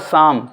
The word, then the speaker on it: psalm: अगर S और T letter आते हैं तो भी साइलेंट हो जाता है P। PSALM ये हुआ शाम, पजाल्म नहीं, शाम हुआ।